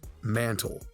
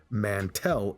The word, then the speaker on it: Mantle: You heard in the trailer that mantle is pronounced mantle, right? Then join Mantlecore. And during the game, characters pronounce it as mantle. These are all mantle soldiers. But then, other times, characters will say Mantel instead.